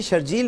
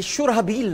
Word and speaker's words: شرحبیل: خود بھی کہا تھا, ان کا تلفظ غلط ہے. یہ جب اپنے آپ کو شرجیل کہیں گے بڑا مسئلہ. یہ شرحبیل نام ہے, اصل میں شرحبیل ہے. یہ لکھا شرحبیل جاتا ہے, یہ غلط العام شرجیل ہو گیا ہے.